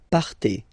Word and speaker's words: partez: Okay, then for vous, classic ending for vous as well, EZ, but then you pronounce it et, vous partez, vous partez.